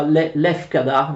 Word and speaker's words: Lefkada: Venezia perde anche l'isola di Santa Maura, che viene chiamata anche Leucada o Leucade, forse si pronuncia Lefkada nel greco moderno, all'epoca si chiamava Santa Maura.